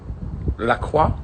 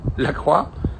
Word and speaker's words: LaCroix: look Freud qua qua look how are you supposed to pronounce and I think the company themselves call it Lacroix but I mean shouldn't we pronounce it more French than that Lacroix Lacroix I'm not even sure